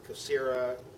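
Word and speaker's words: Kyocera: These are Kiosera. And the one on the roofer, Kiosera or how some people pronounce it, Cosera, whichever kind of pronounced the Y in it, Kiosera.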